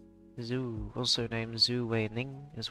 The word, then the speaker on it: Zhu: Z. H. U. Zhou? Z? Z? I don't know. I'll get it pronounced.